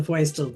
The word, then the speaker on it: Feustel: Well, Feustel, I like my name because it rhymes, but you have to say the Feustel the proper German way.